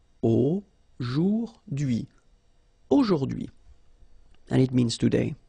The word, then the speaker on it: aujourd'hui: H is not pronounced, so you only get this dui thing. Aujourd'hui.